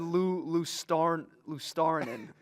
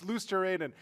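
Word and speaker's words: Luostarinen: Oh, I would have try. said Lou Starnen. It is. It's Luosterainen.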